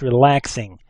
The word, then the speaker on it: RELAX NG: now it looks like relax ng and that's what I call it when you're looking at it it's actually pronounced relaxing it's an XML based